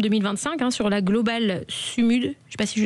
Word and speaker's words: Sumud: Euh alors, vous avez embarqué donc en septembre 2025 hein sur la globale Sumud. Je sais pas si je le dis bien. Alors ça se prononce Summou. Sumou.